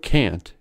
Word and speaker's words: can't: strong sound so its vowel is long and clearly articulated in other words can is Khan but can't is can secondly there is no